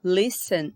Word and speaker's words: listen: Em listen, eu tenho duas sílabas. Listen, a mais forte é o li, não posso repetir.